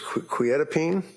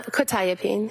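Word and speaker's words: quetiapine: Probably mispronouncing this. Quotipene. Uh quitapene. Quitapene and quitapene metabolite.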